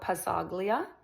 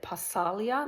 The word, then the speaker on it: Pazzaglia: my house is Lorenzo Pazaglia. I think you pronounce it palia. Like you don't p it's p a zz a g l i a but you don't hear the g I think.